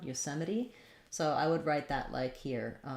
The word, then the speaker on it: Yosemite: our o there again so we'll have the yu sound from letter y r o and then stress on the sem with an e and then yosem meri meri we have a schwa here or an e sound here the t is going to be flapped and then our last e is actually going to say the e sound yosemite so i would write